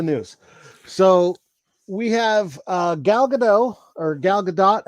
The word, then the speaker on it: Gadot: So we have Gal Gadot, or Gal Gadot. How do you pronounce her name? Once again, I'm horrible with names. Mrs. Fry. Go. Very French. Gardot. What is it? Gardot.